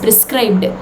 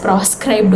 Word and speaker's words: proscribed: wrote a spelling wrong and you're pronouncing wrong it is prescribed no my dear it is proscribed only which means banned magazines magazines which are